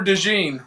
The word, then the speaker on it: DeJean: Cooper DeJean, like the mustard.